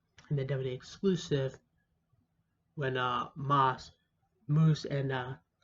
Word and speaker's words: Moose: And the WWE exclusive, when Moose, and I keep calling it Moss because it's spelled O-O-S-E, even though it's like, oh, this is Pat Moose.